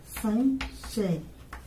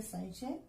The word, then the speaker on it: संशय: जैसे संशय, तो संशय, स में यहाँ पे ये अनुस्वार आ गया। अब ये क्या हो गया, सन, तो न की आवाज आ रही है, तो ये न का उच्चारण कर रहा है।